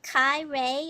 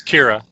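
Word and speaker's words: Qi'ra: Will Kai Ray, am I pronouncing that name correctly? Kai Ray be killed in this film? Repeat it correctly, Corellian. Then it's Kira. Oh, Kira.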